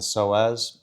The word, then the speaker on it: psoas: So often the obliques are tied up in with it, and almost all the time the psoas, and that's spelled PSOAS, you can look it up, is usually a component.